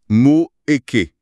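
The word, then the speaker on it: moeche: Ce sont les Moèches. Les Moèches, ça se prononce comment ? Mo eké avec l'accent sur le e. C'est du dialecte vénitien.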